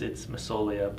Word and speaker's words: Massoglia: But yeah, the G silent, so it's Massoglia, but the G silent. So again, it's Massoglia.